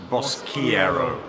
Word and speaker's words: Boschiero: Boschiero. No swearing. Get your lips around the Italian pronunciation.